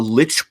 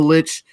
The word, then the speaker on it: lich: We can fight over pronunciations, and I'm sure there's a pronunciation guide that they're called licks, L-I-C-H, as opposed to lich with L-I-C-H.